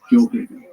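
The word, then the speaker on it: Gjoa Haven: This is because there is a Johaven, which is what the locals say today use the J sound, Johaven.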